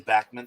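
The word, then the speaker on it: Backman: other famous walles Joiner and pip Moon and bman well Wally bman I'd rather forget about for Wally bman gotta love him can we keep the Wally wave going say it right World Series champion Wally Bachman thank you very much yeah yeah I mean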